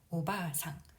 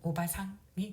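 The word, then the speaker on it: おばさん: 그 다음 이모, 고모, 숙모 다 오바상이 되겠습니다. 오바상. 아줌마의 뜻도 있고요. 발음은 오바상, 할머니와 좀 비슷합니다. 할머니 오바상은 장음이고요. 오바상 단음이 되겠습니다.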